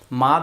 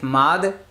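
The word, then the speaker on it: مد: মানে আসলে মদ না উচ্চারণ মাদ মাদ মাদ অন্ততপক্ষে আমরা মাদ বলব আর কি আমরা মদ না বলি মাদ মাদ এটা সবাই ঠিক করে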